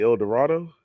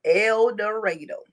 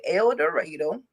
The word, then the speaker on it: El Dorado: elero Arkansas but that's is supposed to be El Dorado no it is pronounced eloro he was raised in eloro Arkansas that is where the park side of